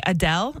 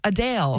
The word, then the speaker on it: Adele: are saying that uh the way that we say Adele is incorrect it's a Dale yeah she recently was